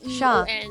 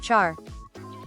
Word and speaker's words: Char: Sha, not Char.